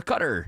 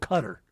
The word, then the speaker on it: Qatar: I'm saying it's called Cutter. But that both are English-izations. Cutter, Qatar, that's not how they say it. Qadar.